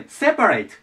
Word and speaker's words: separate: アクセントの場所です日本語でセパレートって言い方をするんですけどアクセント前に来ますつまり separate ていう感じになります背